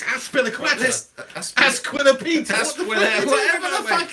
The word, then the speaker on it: Azpilicueta: It's Asquil. No, it's not, mate. It's Azpilicueta.